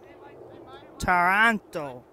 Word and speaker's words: Toronto: It's not the city pronunciation of Toronto. It's Toronto with the letter A. Toronto.